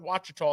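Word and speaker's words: Ouachita: watch a tall river watch it tall is the correct way to say that spell with an o it's called watch it talk where's that louisiana ah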